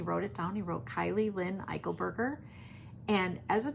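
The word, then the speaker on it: Kiley: So her entire life, we have always Kylie like Riley, Kylie like Riley. But most people who have never met us or seen us or whatever would spell it Kylie like Kyle.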